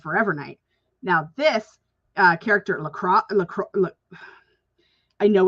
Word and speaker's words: Lacroix: It's actually, in the show, it's pronounced LaCroix. So you don't pronounce the O or the I guess, or the X.